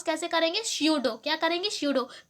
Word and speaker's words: pseudo: स्यूडो। क्या करेंगे? स्यूडो। पी जो है वो साइलेंट है, इसलिए अच्छे से आप प्रोनाउंसिएशन भी इसका सही करें।